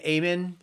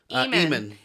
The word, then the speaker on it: Eamon: Amen? Eamon. It was EAMON.